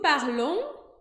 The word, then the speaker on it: parlons: Nous parlons, ONS no final. A gente não vai falar esse S.